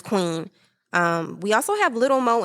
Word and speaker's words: Kwn: It has features from Lucky Daye, Queen, spelled KWN. I hope I'm pronouncing her name right, but I'm feeling like it's Queen.